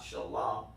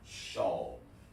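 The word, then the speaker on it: של: So you don't need this ah is silent. So it's not shala, it's simply shawl. Which means in the Hebrew of.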